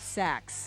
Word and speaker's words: Sachs: Sachs.